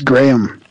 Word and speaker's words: Graham: But it's Graham. Like Graham Cracker? As in Graham Wafer, yeah.